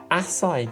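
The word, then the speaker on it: açaí: Oh, I had acai juice yesterday. Acid juice? Acai. Acai. Oh, A-C-A-I. Apparently that's how she pronounced it.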